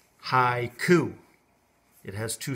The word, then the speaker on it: haiku: and say the word haiku and you go hi ku and my hand move twice so there's two syllables so this one can be a little